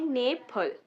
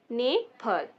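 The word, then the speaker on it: 네팔: नेफल। नेफल। ई को हम कहते हैं ए, तो ये हो जाएगा नेफल।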